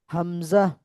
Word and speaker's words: همزة: واو ها، ها ها همزة، حمزة حمزة হামজা। حمزة حمزة حمزة মানে হামজা উচ্চারণ করার সময় শেষে হামজা, জিম যেন না হয়, حمزة হামজা, حمزة حمزة যা হবে হামজা, حمزة حمزة حمزة হামজা।